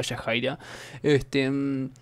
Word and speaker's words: Yahaira: bienes a los que me comentaron en el vídeo anterior que es ella el que se pronunciaba yajaira tus problemas que me